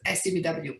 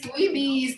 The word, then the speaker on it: SCBWI: do you say SCWBI or do you see SCBWI? Because I've heard both. Well, the official title is SCBWI, Right. um, but I know that many people find all kinds of ways to say it. Okay. Just Scooby, Squeeby, because it's really hard to pronounce it.